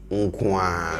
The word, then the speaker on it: nko ara: say sewa unim, and pay attention to how he says the wa. Wow, sewa unim. We have Woo Ara, but then when we are saying it, you hear wa. It's the same as unku ara. Unku ara. You see it written as unku ara, but when we are saying it, we say unkwa.